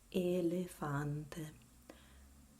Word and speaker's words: elefante: And in Italian, you say it elefante. Elefante. All closed E.